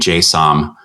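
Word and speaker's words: Jay Som: to a record uh by a lady named jsom um it's j-j-a-y and last name is spelled s-o-m and it's you know it's just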